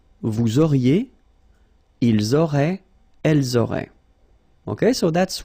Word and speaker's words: ils auraient: Ils auraient, so liaison here. Elles auraient. And then look, if you've got A-I-E-N-T, then phonetically it goes like aurait.